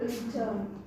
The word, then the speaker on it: return: And if we stress on the letter vowel, then it will be known as the verb.